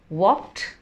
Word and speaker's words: walked: Second word जब मैंने बोला WALKED, वॉक्ड, वॉक्ड, ड नहीं, ट, दोनों दांत आपके साथ में आएंगे और आप बोलेंगे ट, वॉक्ड।